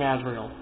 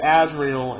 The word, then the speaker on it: Azrael: But yeah, she's hunting Azrael. And yes, I say Azrael instead of Azrael which is the actual pronunciation, because it's not spelled the same way.